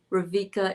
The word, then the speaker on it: Rebecca: With the V instead of a B. Ravika in Greek, just mention it to make it easier for you. Am I pronouncing it the correct Greek way?